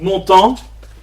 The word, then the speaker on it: Montan: est un peu particulière donc montant comme ça se prononce hein prêcher surtout l'incarnation